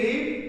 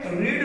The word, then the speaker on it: read: बट when it acts as relative form, when it acts as V3 form, its pronunciation is read not read। तो अब हम लोग यहाँ पर क्या पढ़ेंगे, रीड नहीं पढ़ेंगे, हम लोगों को रेड पढ़ना होगा।